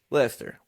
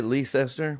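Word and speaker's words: Leicester: I've been saying it wrong all Is it Lester or Liechester? Lester. Okay, cool. Some people say Lee Lester. I'm like that's crazy.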